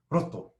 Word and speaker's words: roto: So if you're trying to pronounce this r sound, take a big deep breath, roto, right?